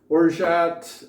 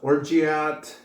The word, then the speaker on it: orgeat: did cover this too it is pronounced orat um not orat um if you go